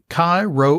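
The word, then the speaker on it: Chi Rho: actually have to run kai row academy is still taking enrollment through today august the 7th cairo i'll spell that c-h-i new word r-h-o academy offers a classical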